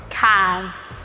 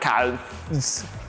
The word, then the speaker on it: calves: or porpace oh and make sure the l is silent exactly calves exactly not counts now we're going